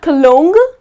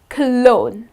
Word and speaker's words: cologne: smell nice so again the letter G here goes silent it's not cologne but it's clone that's the correct pronunciation another word which is